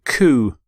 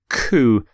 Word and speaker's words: coup: constitution legislation code Charter here's your next word coup coup when there is a coup a group of